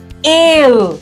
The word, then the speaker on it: scale: Then in that case, this letter C will give you the K sound and this letter S is giving you the sound, and that is why the pronunciation changes to scale, scale.